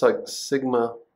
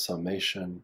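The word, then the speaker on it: Σ: You'll notice I put little tips on mine, but this is pronounced sigma. You might also hear it pronounced as summation or sum.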